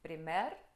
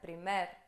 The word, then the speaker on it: primer: transformam observação número 2 a pronúncia é de uma palavra oxítona É nesse aguda Então